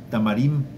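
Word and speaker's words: תמרים: Irbú, sí, por el puerro, que en hebreo es cartí decían, que nuestros enemigos sean exterminados y cartú por los dátiles, que se pronuncia tamarim, decían que nuestros pecados sean eliminados.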